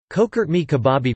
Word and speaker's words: Çökertme kebabı: Çökertme kebabı, pronounced Çökertme kebab, is a type of lamb kebab eaten in Anatolia, and associated particularly with the Bodrum area of southwest Turkey.